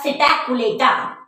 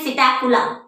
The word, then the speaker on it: Psittacula: Fourth है हमारा सिटैकुलेटा, या हम ये बोल सकते हैं सिटैकुला। तो पी साइलेंट है बच्चों इसमें, सिटैकुला।